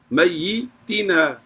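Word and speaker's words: ميتينا: حیینا حیینا نا, حیینا میتینا, تاکہ نیچے زیر ہے, میتینا میتینا میتینا. تو یہ اس کو ہم نے زیر کے ساتھ پڑھنا ہے.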